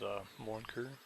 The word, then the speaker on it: Morin Khur: through town run through this is U Mur not positive that's how it's pronounced but something like that I'm not going to